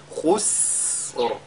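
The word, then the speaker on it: خسر: Ce qu'il faudra donc qu'on fasse ici, c'est d'allonger la prononciation, n'est-ce pas, de ce signe-là. Donc, khus. Et le Ra suit après. Khusr.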